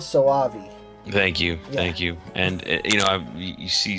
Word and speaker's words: Soavi: It's Mikhail Soavi.